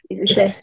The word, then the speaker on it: Ise: Did I pronounce that right? Is it Ise? Ise? Yes, Ise.